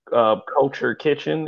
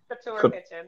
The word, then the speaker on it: Couture Kitchen: By the way, Miss LaFay is the owner of Culture Kitchen, if that's how you pronounce it. Culture. No, it's not Kitchen. Couture Kitchen.